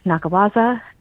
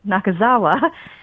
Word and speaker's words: Nakazawa: um as well as an art show by Mumi Nakawaza and I'm sorry I said her name wrong again, Mumi Nakazawa.